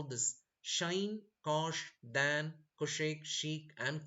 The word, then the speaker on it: sinh: So, sine cos will sound like shine, cosh, tan, cosec, cot, and sec. But actually, this is the proper way to pronounce the hyperbolic function. But the American mathematicians, they call a little bit different. They call this as sinh x, cosh, tanh, etc.